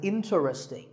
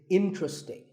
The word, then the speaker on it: interesting: number 11 is interesting this is mispronounced sometimes as interesting but there are only three syllables in tree sting and the stress is on in so the word is interesting number 12 is hotel